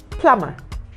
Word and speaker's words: plumber: You have plumber, P-L-U-M-B-E-R. The letter B in that word I have never understood why the B must be silent in plumber and comb and bomb.